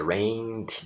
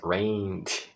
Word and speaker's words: rained: É muito importante entender esse rained, a letra E não se pronuncia, tá? A segunda vogal é rained, depois do N já pula para o D, sem uso das cordas vocais, rained.